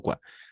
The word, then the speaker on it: quoi: Esa combinación de letras o i va a ser wa.